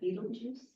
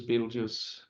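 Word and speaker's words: Betelgeuse: and uh this is Beetle Juice which is 642 light years away pronounce that Beetle Juice B juice Beetle Juice it's an Arabic word Arabic have been doing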